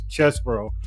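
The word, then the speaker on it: Chesebro: even they don't know they don't know how to pronounce his name until his his attorney said it so it's chess bro it is CH bro but see that's the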